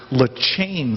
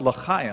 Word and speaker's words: l'chaim: And then somebody looked at me, Corey, and said the word's pronounced L'chaim. And I said, something caught in your throat. And they said, no, that's how you pronounce the word, L'chaim.